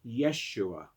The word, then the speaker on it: Yeshua: shape your character so what does the name jesus mean in hebrew which was the ancient language of the bible the name jesus is pronounced yeshua there was another famous